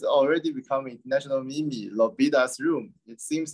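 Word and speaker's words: L'Hôpital: But I mean, we need to speak it in French. So it is gonna be Lobita. H is silent, okay.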